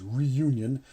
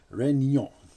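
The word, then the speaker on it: Réunion: french french possession now the name of it looks like it says reunion but actually it's pronounced renyon and it is as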